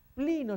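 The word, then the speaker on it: πλύνω: Plino significa lavar, se pronuncia plino, es lavar.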